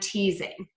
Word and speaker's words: teasing: is voicing so when you see again that letter s between two vowel sounds we're going to pronounce it as a z like in the words cousin reason and teasing so those are all